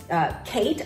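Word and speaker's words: Khaite: this one is by Kate I think it is k-h-a-i-t-e I think it's pronounced Kate whether in a hobo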